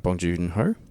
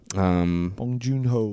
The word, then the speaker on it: Bong Joon-ho: to make sure I say his name right bong joon-ho bong joon-ho cuz I always say it incorrectly yeah bong